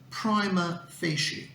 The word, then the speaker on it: prima facie: let's find out so the correct pronunciation of this phrase is prima facie and it refers to